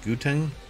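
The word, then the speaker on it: Gauteng: Water Management authorities from I think it's pronounced guten um province which includes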